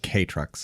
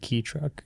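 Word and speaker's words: kei truck: And they're they're pronounced K trucks. K trucks. Okay. A video I watched said key truck.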